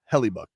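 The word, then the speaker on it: Hellebuyck: your numbers every year Kyle says it's pronounced heluk is it yeah well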